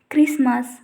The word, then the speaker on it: Christmas: T is not pronounced in most of the words when it came after S at the middle of the word. If you see the examples, whistle, Christmas, listen, etc. In all the above words, T after S is considered as a silent letter.